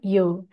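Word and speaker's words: 曜: Kanji ini tidak memiliki kunyomi, dia hanya memiliki onyomi saja dibaca yo. Kita lihat cara penulisannya sebagai berikut. Kita harus bikin bagian kiri, lalu bagian atas. Ini seperti katakana yo ya, baru bagian bawahnya.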